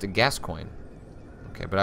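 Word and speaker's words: Gascoigne: weapon any encounter becomes brawl gory fanto says pronounced a gascoin okay but I like citizen Kang saying guacamole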